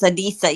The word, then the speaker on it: Adisa: Adisa. And by the way, am I pronouncing your name correctly? Yes. Adisa.